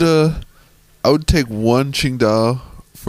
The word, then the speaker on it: Tsingtao: t AO sorry and but pronounced more of a qingdao there's a kind of like a Q and a D qingdao this is from this